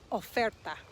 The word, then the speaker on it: oferta: to look at is oferta or remember the letter o in spanish is o it's the o sound of is an offer a